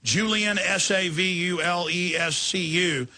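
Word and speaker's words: Julian Savulescu: thing that the other bio assist at Oxford Julian salvus you am i pronouncing that right yeah Julian sa vu le s see you he says well we got fluoride through and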